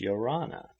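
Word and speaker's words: Ia ora na: shaking hands and uttering the tahitian word of greeting yarana pronounced yorana the men big strapping fellows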